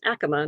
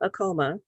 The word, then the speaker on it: Acoma: Yeah, and it's pronounced Acoma, not Acoma.